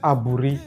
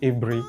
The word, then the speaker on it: Aburi: It is not Aburi. It is pronounced Aburi.